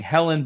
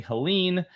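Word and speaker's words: Helene: prior hurricane Helen and apparently um I have been saying the name wrong the entire time so um that's interesting there you go um and so I've been saying Helen but it's apparently Helen um and it's good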